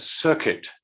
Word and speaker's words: circuit: We pronounce that circuit. It's a strange word, circuit. Circuit.